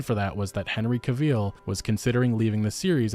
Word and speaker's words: Cavill: to be a robot oh cavil is pronounced like travel travel you see I'm not